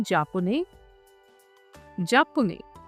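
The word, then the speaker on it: japonaise: Masculine के लिए होगा जापुने, जापुने, जापुने, सिंपल जापुने। अब देखिए फेमिनिन में सेम वही कॉन्सेप्ट रहेगा, we will add ई एट the last. Okay, अब प्रोनाउंसिएशन क्या होगी जापानीज, जापानीज।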